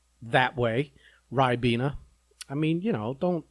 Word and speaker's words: Ribena: i called it i i said it how it's spelled r-i-b-e-n hey rabina they're like no it's ribena i don't see a y there so i don't know where they're getting the y from well i just naming